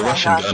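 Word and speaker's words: Rasengan: The Russian gun is correct.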